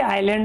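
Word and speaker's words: island: देखो ये आइसलैंड नहीं है। आइसलैंड की स्पेलिंग ये होती है। इसको हम बर्फीला द्वीप बोलते हैं। जहां बर्फ गिरती है ना वो आइसलैंड होता है। ये आइलैंड है जो पानी से गिरा हुआ होता है।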